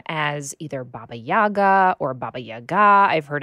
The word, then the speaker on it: Baba Yaga: So when I speak to Ukrainians or Ukrainian speakers, I say Baba Yaga, which is the pronunciation in Ukrainian.